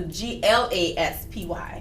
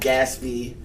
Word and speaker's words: Glaspy: And Glaspy, it's not as common, so Glaspy. Yes, not Gaspy, not Gillespie, not Robert Gasper.